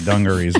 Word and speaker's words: dungarees: It's really dungarees, but I like to pronounce it dungarus.